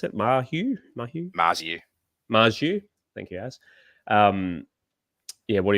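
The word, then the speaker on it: Marzhew: With Greg how do I pronounce it? Marju.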